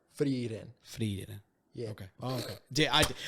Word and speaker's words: Frieren: So I think it's Frieren. Frieren. Not a full roll. Just a flick. Frieren.